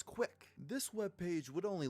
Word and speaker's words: CWC: version of quick po CWC are the initials of Christian's full name which he is unusually proud of due to its ability to be pronounced as quick this web page would